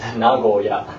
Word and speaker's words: Nagoya: Nagoya is Nagoya.